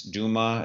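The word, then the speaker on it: James Douma: I loved your interviews with James Duma. Is that pronouncing it right? Dauma, yeah. Dauma, yeah.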